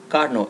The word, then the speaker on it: Carnot: be explaining about the Carno engine and a Carno cycle it's pronounced as car no there are a few